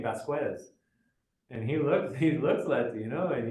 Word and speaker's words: Vasquez: assimilated American person, and he doesn't pronounce his name with a Spanish accent. He pronounces it with an Anglo accent.